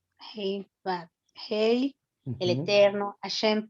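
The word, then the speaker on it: הא: La Ajá, Hei es la H para nosotros. pero la pronunciación, La pronunciación.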